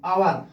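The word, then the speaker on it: hour: पर लिखा हुआ है आवर आवर ठीक है यह क्या लिखा हुआ है इसमें आवर यानी कि इसको आप हवर नहीं पढ़ोगे क्या पढ़ोगे आवर जैसे मैंने यहां पर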